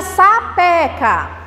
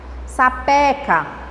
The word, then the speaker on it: sapeca: Exemplo, a palavra sapeca, a sílaba tônica é a penúltima. Que menina sapeca. Olha a pronúncia, sapeca, sapeca. Eita, que menina sapeca.